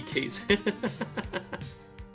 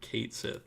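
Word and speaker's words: Cait Sith: K A T E Kate Sith. Unfortunately, the official pronunciation of the Final Fantasy character is like Kate Sith.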